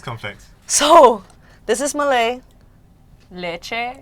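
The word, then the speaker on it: leceh: Leche. Leche. Leche. Leche, like dulce de leche, like milk. No.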